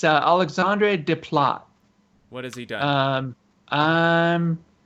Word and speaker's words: Desplat: whereas Alexandre Desplat did the Majority. most of the. It's Yeah. Desplat. Desplat. No, it's not this You flat. gotta say it like an American. Alexandre Desplat. Nice. Nice. D-splat.